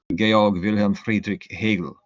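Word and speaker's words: Georg Wilhelm Friedrich Hegel: His name is uh in English George Wilhelm Friedri Hegel Gayog Vilhelm Friedri Hegel from my approximation to German pronunciation.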